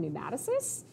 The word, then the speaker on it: pneumatocysts: If you wanna be really fancy, these air bladders are actually called pneumatocysts. Spelled with P, so it's a little bit of a tricky one, but that is their scientific name.